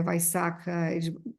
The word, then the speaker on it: Vaisakha: Só que em vez de ser Vishaka, é Vaisakha, tem uma mudançazinha na pronúncia, porque adquire esse significado de mês, por ser mês, né?